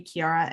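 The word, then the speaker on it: Chiara: you can also you know email me directly kiara at tonic.iii the the name is spelled c-h-i-a-r-a at tonic and i do want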